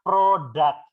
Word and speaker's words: product: Ini bacanya produk.